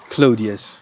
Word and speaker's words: Claudius: How do you pronounce the last name? Claudius.